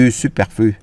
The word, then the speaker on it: superflu: câu này là du superflu. Mình không có nói de superflu được, mình phải nói du superflu. Superflu. Này mình đọc là superflu. Cái này chữ u nha.